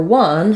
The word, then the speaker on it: one: the correct patterns um it has the W sound at the beginning um for letter O um there's no letter for that really and then the vowel sound is awah that sounds like uh so when we say one people often don't think about the fact that the number one and one as in he won the game have the same pronunciation um also um the